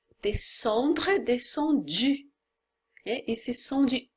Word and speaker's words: descendu: Então é U, descendu.